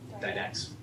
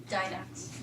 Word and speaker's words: Didax: How do you pronounce that? Didax. Didax.